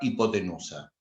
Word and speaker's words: hipotenusa: vamos a llamar la hipotenusa piensen que es la manera de determinar dónde va la hipotenusa como la h es muda ustedes no la van a pronunciar donde está la r